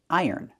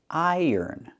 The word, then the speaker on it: iron: It's pronounced iron. And ironing. Let's take a closer look. Iron. We have the long I sound, plus the er like in burger. Er. Iron. The N at the end.